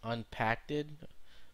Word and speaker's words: Npackd: Supposed to be pronounced as unpacked. Um, so anyways, let me open it here. Uh, unpacked.